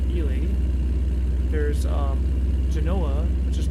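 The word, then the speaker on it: Ely: There's Elie which is not Eli but Elie.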